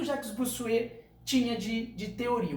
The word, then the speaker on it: Bossuet: Então vocês falam Bossuet, mas pronuncia Bossuet.